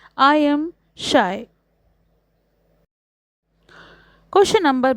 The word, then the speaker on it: Scheu: Sixth, the poet says that his name is pronounced as the word shy. Answer, when it comes to pronouncing my name, I am shy.